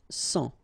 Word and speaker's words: sang: Okay, remember this G here doesn't exist, so un sang.